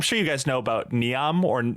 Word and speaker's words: Neom: I'm sure you guys know about Neom, or I think it's pronounced Noam, yep.